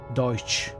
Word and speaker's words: Deutsch: I think at the end of Deutsch it's more like s ch not just ch n it's a voiceless frictive your first attempt was